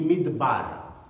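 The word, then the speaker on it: מדבר: Le désert en hébreu, on dit midbar. Midbar, deux syllabes.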